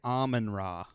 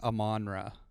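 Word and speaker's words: Amon-Ra: say his name because i've heard it said two different ways a manra okay so i've heard people say almond raw yeah i like that more and a manra i've always thought it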